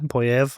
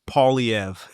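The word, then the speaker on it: Poilievre: which looks like Pierre POV I I pronounce his name correctly is a usually butchered by Anglo Canadians to paev Yes um I'm a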